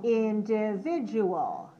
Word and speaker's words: individual: dot a l and the pronunciation is that individual how many syllables do we have five right and where's